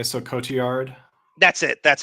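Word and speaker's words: Cotillard: is it the team I think the L's are pronounced like a y so Cote yard that's it that's how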